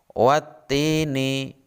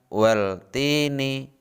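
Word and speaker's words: وَالتِّينِ: Cara membacanya wattini bukan waltini. Jadi seakan-akan alif lamnya hilang.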